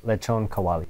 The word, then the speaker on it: lechon kawali: Let's get the expert over here to pronounce it. Yeah, lechon kawali.